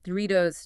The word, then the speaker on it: Doritos: Think Doritos, Cheetos, Gatorade. The T is between vowels, so it flaps. Doritos, Cheetos, Gatorade.